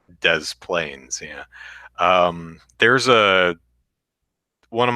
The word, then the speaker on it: Des Plaines: can watch Brian says there's a city here called des plaines which is obviously a French name bose pronounced des plaines yeah there's a one